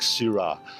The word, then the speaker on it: Syrah: variety was nothing like Sira. It would have been pronounced sir, but it was actually c i r a s. And uh the French word has sort of metamorphosed to s y r ah and in Australia it's